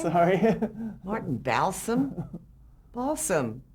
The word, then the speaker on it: Balsam: Balsam, like the fir tree, B-A-L-S.